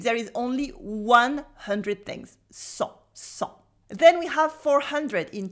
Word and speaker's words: cent: So first of all, we have cent with the silent T and this en sound that is nasal, cent. Repeat after me, cent. Like the blood actually.